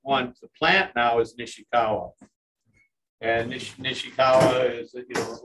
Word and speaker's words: Nishikawa: What I'm finding out is that the most resistant one to plant now is Nishikawa.